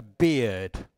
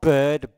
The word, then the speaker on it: beard: So, now remember, this is, the first word is a beard, okay? It's not bird, bird è uccello, okay? So, a beard, come la pronuncia della birra, beer, e ci mettete una d alla fine, okay?